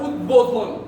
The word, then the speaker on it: উদ্বোধন: বাইরে আমরা আরেকটা শিখলাম যদি ব ফলাটার আগে ওই শব্দ বা ব ফলা যুক্ত শব্দটা উৎ উপসর্গ বা উদ উপসর্গ যোগে গঠিত হয় তাহলে ওই ব এর উচ্চারণ ব এর মতই থাকবে যেমন আমরা বলি উদ্বেল কি